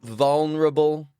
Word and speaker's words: vulnerable: Break it into two parts, my friend. Repeat after me. Val. Val. Val. Rubble. Rubble. Rubble. Verable. Verable. Vulnerable.